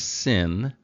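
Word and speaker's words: שׂ: that this is pronounced sin and this is pronounced Shin so if you think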